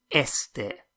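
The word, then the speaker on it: éste: Me gusta este. So with an accent on the E, but pronounced exactly the same as este, este coche.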